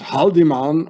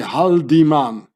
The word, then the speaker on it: Haldimann: Because in German you say Haldimann, like an E here, Haldimann. And here in English, Haldimann, Haldimann. It's the same.